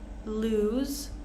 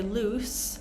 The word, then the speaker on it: lose: case bear moving on lose make sure we don't say loose but lose so we have that z sound if we say loose it's a completely different word loose Sho type wise